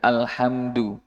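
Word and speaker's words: الحمد لله: Dal dal tidak terlalu kental. Da alhamdu terlalu tebal, itu salah. Tipis sekali. Alhamdulillah.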